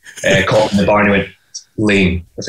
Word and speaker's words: Laing: year so i have already mispronounced the company name it's it's douglas lane she's gonna overdub that